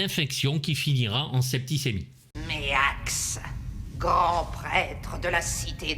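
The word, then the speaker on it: Maax: Alors ça s'écrit M2AX, mais ça se prononce Méax.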